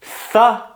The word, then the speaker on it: thorough: Це tha. Всього два склади. Ра.